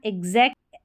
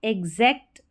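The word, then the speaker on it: exact: एक्स को आधा ग और ज भी पढ़ते हैं।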